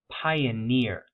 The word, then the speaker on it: pioneer: Pioneer. Pioneer has some initial stress on the I vowel sound, but the primary stress is on that suffix, right?